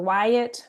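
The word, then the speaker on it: WIAT: There's the Wyatt, which is spelled W I A T.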